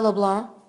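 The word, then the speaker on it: LeBlanc: name for me sure l e b l a n c but the C is silent yes sir okay do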